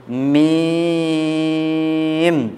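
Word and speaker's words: ميم: এই অক্ষরটি উচ্চারণের জন্য কালকে বলেছিলাম দুই ঠোঁট হতে উচ্চারণ হবে, দুই ঠোঁট হতে উচ্চারণ হবে, উচ্চারণটাকে লম্বা করতে হবে, সর্বশেষে দুটি ঠোঁট একসঙ্গে লেগে যাবে।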